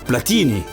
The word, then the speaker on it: Platini: Chez nous, ce nom de famille se prononce Platini.